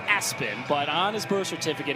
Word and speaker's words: ESPN: It's pronounced Aspen, but on his birth certificate, it's ESPN.